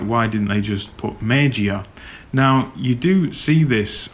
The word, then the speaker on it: Meiji-ya: But with Meiji-ya, it's like, why didn't you just call it Meiji-ya, because in English we can say the G sound.